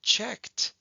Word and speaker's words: checked: word like checked well checked also has an ed at the end but it doesn't sound like an ed at all so we'll underline our